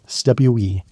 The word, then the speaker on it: cwm: It rhymes with boom, but starts with a soft, almost musical consonant that exists nowhere in English.